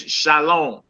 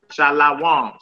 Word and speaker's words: shalom: Med wide m and that says shalom shalom or you might hear some brothers say shal shalawam because they don't pronounce it with any vows so sister Valerie y